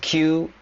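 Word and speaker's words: 九: And Skemon means is the Kagoshima dialect for Japanese, and Q can also nine is pronounced Q in Japanese, but Q is also a homonym for the word ball.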